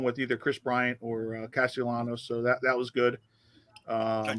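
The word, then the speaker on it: Castellanos: and then along with either chris bryant or cassiolano so that that was good uh so how do you pronounce his last name cassiolanos yes because that's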